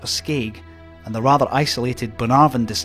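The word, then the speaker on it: Bunnahabhain: more northerly Port Escape and the rather isolated Bonavaran distillery is well worth the effort. The strangelooking spelling with an abundance of consonants is actually pronounced Bonarvin, which can be quite misleading when you hear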